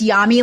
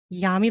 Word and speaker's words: Yami: say her name Dr yamy yummy it's it's yummy like Mommy yummy like Mommy okay that's